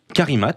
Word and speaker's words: Carimat: Carimat, je le prononce bien, Tristan. C-A-R-I-2-M-A-T. Donc car comme car et imat comme imat. Exactement, tout accroché.